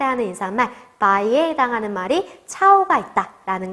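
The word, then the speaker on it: chao: 네, 차오라고 읽어주면 되는 거죠.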